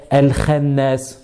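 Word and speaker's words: الخناس: On va pas le prononcer Al-Khay, Al-Khannas. Non, Al-Kha, Al-Kha, parce qu'elle est emphatique.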